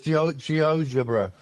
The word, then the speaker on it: GeoGebra: can't even say it, GeoGebra? No, I'm not heard of that. Have you not come across No. It's spelled a bit like geometry and then algebra, but it's GeoGebra.